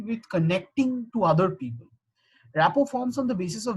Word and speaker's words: rapport: RAPPORT. Rapport is, it's actually a French word, and its pronunciation is rapport. You do not pronounce the last T.